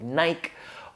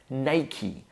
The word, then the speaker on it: Nike: different ways, something like Nike or Nike, something like that. But Americans pronounce this as Nike. So very simply, we start with Ni, like night, but without the T at the end, so Ni.